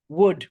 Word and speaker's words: would: we are not judging the L is silent. So let us practice saying could, should, would without the L.